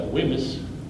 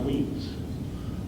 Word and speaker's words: Wemyss: John James was against, you and I would pronounce that Wemyss, but we know it's pronounced Weems.